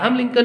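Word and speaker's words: Lincoln: देना है कि अब्राहम लिंकन की स्पेलिंग में एल जो वर्ड है एन के पहले वो साइलेंट है ठीक है ओके तो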